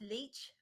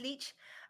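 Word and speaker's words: Leitch: I think it's pronounced leech Elite Beach um l-e-i-t-c-h I think it's pronounced leech um you might know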